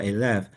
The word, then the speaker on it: Alef: First of all, we're not ALF, we're alf. It's pronounced a with an opening.